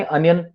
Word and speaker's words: onion: Okay, पहली बात तो अपन प्रोनाउंसिएशन करेंगे अनियन, अर्नव. ओके, ऑनियन नहीं बोलेंगे, अनियन बोलेंगे पहली बात.